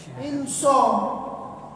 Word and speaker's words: Insya: Insya. Tapi kata orang tuh SH Pak Ustadz, itu yang mengatakan orang Inggris. Di Inggris itu shin sama dengan SH. Di Indonesia shin sama dengan SY.